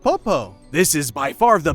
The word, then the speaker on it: Poppo: In Japanese, Pidgey is pronounced Poppo.